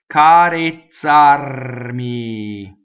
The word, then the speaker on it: carezzarmi: Carezzarmi. Notice that the E is closed because the accent is on the A. The R rolls because it touches an M.